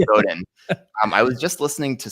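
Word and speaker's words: Godin: I was just uh is it is it pronounced Seth Goden or Seth Goden I can never remember I I always say Goden Goen I think it's Goen I was just listening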